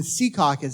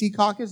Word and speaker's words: Secaucus: 30 p.m over in Secaucus that's how you're supposed to pronounce it right I believe it's Secaucus as opposed to Secaucus people are very particular about that there were eight hey